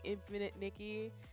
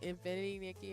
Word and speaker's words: Infinity Nikki: I will be playing infinite Nikki um excuse me Infinity Nikki I keep again I just said it I said the name wrong again but I will be